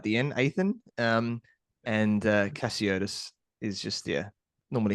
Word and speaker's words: Cassiotis: make sure I grabb that correct yep aan cotus so aan is like Nathan without the end aan um and cotus is just yeah normally how it's how it